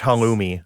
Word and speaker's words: halloumi: It's pronounced halloumi.